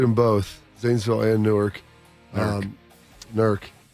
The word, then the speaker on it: Newark: Newark. W. Lancaster. One syllable.